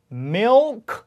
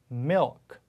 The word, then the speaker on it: milk: 점도 예쁘게 딱 찍고 그래서 milk 이렇게 하지 않죠. milk. 자, 그래서 혀가 혀 끝에 그 치경에 닿는지 잘 보시면 milk 이렇게 강하지 않아요. 살짝 닿으면서 갑니다.